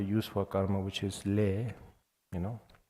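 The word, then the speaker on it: ལས: for karma which is lay you know in Wylie I think it's l-e-s or um just for pronunciation it's just l-e Le and uh in tibetan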